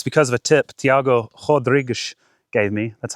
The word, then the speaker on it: Tiago Rodrigues: My irons are being a lot better, and it's because of a tip Tiago Rodrigues gave me.